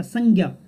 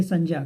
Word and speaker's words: संज्ञा: ये जानता हूं कि इसका उच्चारण जो करते होंगे, क्या करते होंगे, ज्ञ, है ना, ज्ञ उच्चारण करते होंगे इसका, संज्ञा। तो देखिए, मानक कुछ भी हो सकता है, मानक रूप जो भी है या प्रचलित रूप जो भी है उसकी बात हम नहीं कर रहे हैं, लेकिन जो व्याकरणिक दृष्टि से इसका शुद्ध उच्चारण है, या यूं कहूं विशुद्ध उच्चारण है, वो क्या है, ज।